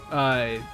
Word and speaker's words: Leifthrassir: Yeah, so it's pronounced Leifthrassir. Like it's not the most intuitive, unless I guess it sounds German, but I don't know.